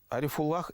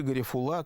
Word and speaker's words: Арифуллах: Арифуллах или Гарифулла, как принято произносить это имя в Урало-Поволжье, Кииков, является знаковой фигурой периода пробуждения национального самосознания башкирского народа в конце XIX – начале XX века.